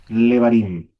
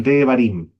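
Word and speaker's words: דברים: Tusim, Susim, Sesim, Harim, Leva, Levarim. No, ya. Devarim. Devarim, palabras. Acuérdate que el Sheba siempre se pronuncia al principio.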